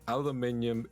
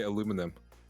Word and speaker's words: aluminium: like think about it aluminium is the right way to pronounce it i don't care what any american says i mean how are